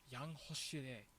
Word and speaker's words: 양호실: Yeah, 양호실 is like you don't need to pronounce 양호실. Like it doesn't need to be done. When it's a hit in the middle of a that follows like another consonant, generally it just gets like wiped out by the consonant anyway.